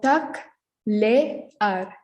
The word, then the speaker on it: taclear: Here we have two vowels next to each other. So we pronounce them separately. So taclear, taclear.